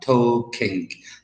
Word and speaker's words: talk: I say come so no l to say like in the word talk I am talking to you I don't say I am toall King to you know I say I'm to King t a l k